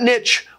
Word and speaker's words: niche: of the word Niche it was the only pronunciation of the word in English until recently when people decided to French it up and in the same